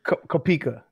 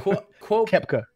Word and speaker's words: Koepka: I thought it was Kupka. Kupka, whatever. I don't know how to say it. How do you say it? It reads Kopika in my head. Kepka. Kepka. Okay, pronounce Kepka.